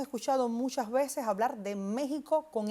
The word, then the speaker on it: México: En el caso de México tiene algo muy interesante Yasmina y es que esa X la pronunciamos como J.